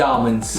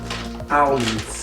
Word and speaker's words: almonds: The almonds. The almonds. How do you say almonds? Almonds. It's not almonds. It's almonds.